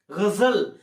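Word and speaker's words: ग़ज़ल: माध्यम से होता है जैसे बोलने वाले गजल है तो जी का उच्चारण इसलिए तो बोलता है गजल उसी घंटी के कारण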